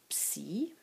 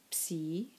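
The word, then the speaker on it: ψ: For the labials, P, beta, and phi, when combined with sigma, you get a new letter that is called psi, and it's pronounced ps.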